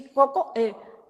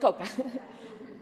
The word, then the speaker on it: cocoa: Chocolate, how do you say cocoa? Cocoa, yeah, cocoa, not coca.